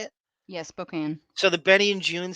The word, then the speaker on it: Spokane: It's Spokane is how you say it. Yeah, Spokane.